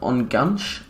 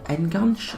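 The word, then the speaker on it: Enganche: him playing as an on gunch or n gunch i believe you pronounce that um his composure isn't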